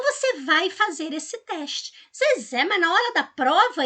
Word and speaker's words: Zezé: Você fala assim, Zezé! Viu que a última sílaba, ela se prolongou? Você falou Zezé! Pois é, essa que se prolonga é a sílaba tônica.